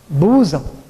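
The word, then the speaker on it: bosom: to us of children b s o m pronounced as boam another word may appear very silly w m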